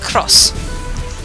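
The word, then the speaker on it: Xros: Uh the way they spelled it was XOS. That is quite literally X as in the letter X R O SS and it's pronounced cross.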